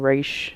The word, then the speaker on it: Ra's: If you watch the Nolan movies, Ra's al Ghul's daughter, or if you're more of a comic person, Raish is how it's pronounced.